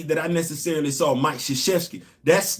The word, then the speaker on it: Krzyzewski: That man last name start with a damn K. There's no S in there. I don't know how people can pronounce Krzyzewski clear as day, but